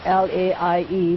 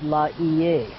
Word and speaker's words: Laie: It's spelled L-A-I-E, which is Laie. The old timers say Laie. When we hear Laie, we know they're from the original group.